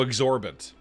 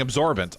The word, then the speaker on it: exorbitant: Oh, exorbitant. Exorbitant. Well, listen, pronunciation. I got there like I was 70% of the way. Listen here, okay? I was 70% of the way. It's exorbitant. I was saying absorbent.